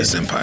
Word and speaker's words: senpai: Yeah, senpai.